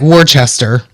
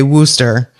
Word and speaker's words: Worcester: Um, and then we all know the Well, it looks like Warchester, but it's they say Worooster.